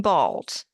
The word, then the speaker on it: bald: Bald. No, it does not mean bald. It means soon. And it's pronounced bald.